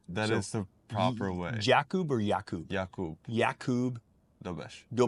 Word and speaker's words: Jakub: So the U is O, right? Oh, okay, yeah. The U is okay. So Jakub? Jakub. Yeah. That is the proper way. Jakub or Jakub?